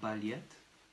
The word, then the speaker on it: балет: Nous allons écrire le mot ballet. B, A, L, Y, T, avec une accentuation finale, ce qui réduit d'autant notre A, qui va se prononcer comme un petit E.